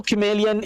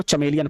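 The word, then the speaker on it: chameleon: The true कैमेलियन is small. तो बहुत सारे लोग इसको चमेलियन पढ़ते हैं. इट इज नॉट चमेलियन, the pronunciation is कैमेलियन. इट इज कैमेलियन.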